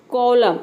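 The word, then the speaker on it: column: देख सकते हैं कि न का साउंड कहीं कहीं पे भी नहीं है यहां प देख सकते हैं ऑटम सीधा ऑटम यानी कि एम क्या है यहां पे एन क्या है साइलेंट है ठीक है कॉलम इसमें भी एन साइलेंट है डैम हाइम इन सभी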